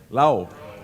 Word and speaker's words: Law: Eric Law. The law. The Law. Lau. Oh, sorry, Eric Lau. It's spelled Law, but it's Lau, right?